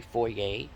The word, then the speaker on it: foyer: i never did ask like foyer f-o-y-e-r it's really four-year it's no different than